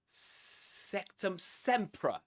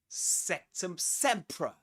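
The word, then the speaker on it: Sectumsempra: This is septum sea. Sectum sea. Sectum sea. Right. Sectum. There's a schwah there in the second syllable.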